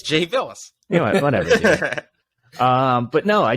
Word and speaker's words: Bilas: Yeah, Bilas. There we go. Dude, it's kind of funny. Richard's like the worst with pronunciation. You know what? I don't even try. It's an easy one too. It's Jay Bilas.